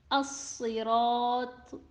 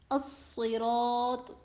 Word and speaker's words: الصراط: Letter Sod in As-Sirat is also heavy, but it has kasra under it that affected it and it won't be read fully heavy. As-Sirat, As-Sirat.